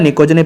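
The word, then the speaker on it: pnictogen: निकोजन, क्या होता है निकोजन, पी साइलेंट होता है यार इसका, ठीक है ना, लेकिन लिखना पड़ता है, बच्चे बोल देंगे सर आप गलत लिख रहे हो, ऐसा नहीं होता यार, निकोजन और चालकोजन होता है, ठीक है।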